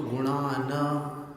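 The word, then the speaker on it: गुणान्: वक्तुम गुणान, और गुणान में न हलंत है, देखिएगा आप, तो उसको गुणान, न पूरा नहीं बोलना है, गुणान।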